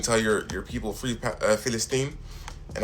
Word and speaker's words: Palestine: And you can't even tell your your people free Palestine. And I love how you pronounced it, Palestine instead of Palestine because that's like the Arabic way of pronouncing it.